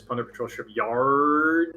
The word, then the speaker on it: Plunder Patrol Shipyard: Yeah, now, I usually don't correct people on pronunciation cards, but that is Plunder Patrol Shipyard.